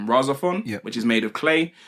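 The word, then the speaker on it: RahXephon: don't really watch mecha stuff, but it's called Rosa Fun. Have you heard of that? No. So it's similar to that's spelled RAH capital X EPHON.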